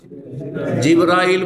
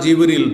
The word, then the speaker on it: জিব্রাইল: ফেরেশতাদের প্রধান জিব্রাইল বা জিব্রীল দুইভাবে উচ্চারণ করা যেতে পারে।